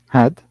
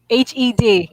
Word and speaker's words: had: Had. Had. Okay. At Yeah. first, at first I heard head. Hed. It sounded like Hed for me. Then later on, you already pronounced it like had.